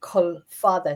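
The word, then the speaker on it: Culfadda: It's called Kul Father. C u L F A DA. But if you put it if you use the Irish of it, it's qua which means long wood.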